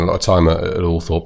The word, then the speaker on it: Althorp: lot of time at Althorpe. But Altrip, I think, is he wanted it to be pronounced for a while. I think he's given up on that now. Right. It's been the old-fashioned pronunciation.